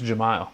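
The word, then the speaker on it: Jahmile: I'm going to I mean, correct that pronunciation too. I think it was Jamal.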